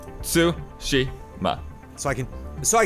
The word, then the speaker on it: Tsushima: what your thing is Japanese theoretically doesn't have it accents right so that all the syllables are even voice like it's su Shi ma so I can so